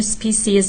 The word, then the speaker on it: species: اونم این که شما ممکنه تلفظ دیگه‌ای هم از این کلمه بشنوید که هستش species که هر دوتاش داخل در واقع دیکشنری های معتبر شنیده میشه، ولی نکته‌ای که هستش